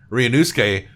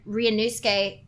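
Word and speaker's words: Ryūnosuke: The vowel in the latter half is silent in a Japanese, in a lot of Japanese names.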